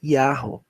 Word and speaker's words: Yahweh: A pronúncia é Yahweh.